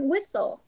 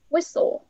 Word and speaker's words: whistle: Then someone whistle. Whistle. Whistle. Là im lặng. Whistle.